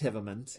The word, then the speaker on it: Hive Mind: Bartholomew Hivemand, spelled Hive Mind, but pronounced Hivemand.